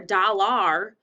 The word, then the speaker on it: dollar: That looks like it would say dollar, but nobody says dollar. What do we say? Dollar. The AR sounds like like in doctor.